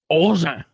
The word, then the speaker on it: Augen: I don't even know how to pronounce it like English. So it's Augen.